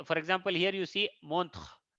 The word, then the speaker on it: montre: Here, for example, here you see montre. The letter r before e is pronounced full, it is not silent.